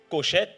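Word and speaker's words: חושך: Et ça se lit Koshek, K-H-O-S-H-E-K.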